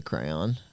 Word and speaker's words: crayon: I just love the way you say crayon. Yeah, I don't pronounce the Y.